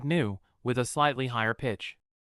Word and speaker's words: หนู: Pronounced like new, with a slightly higher pitch.